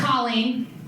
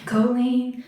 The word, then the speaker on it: Colleen: right so I'm holding I'm not a Colleen so we've got Koli Koli cooling company and in the back it says : like Jolin but with a seat so that's me I'm